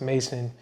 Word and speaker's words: M11SON: So the M11SON, pronounced Mason, is just the rebirth into the world and introducing myself as a creative and not just some regular person.